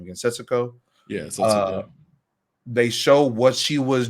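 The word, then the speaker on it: 節子: Yeah, Setsuko.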